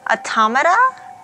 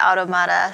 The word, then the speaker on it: Automata: Hi everyone, welcome to part 2 of NieR Automata. I learned that's the proper pronunciation for the game, but I like to call it Automata, so I might still do it sometimes.